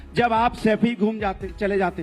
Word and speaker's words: सैफई: सैफई तो बोलना सीख जाओ, सफाई नहीं है, सैफई है।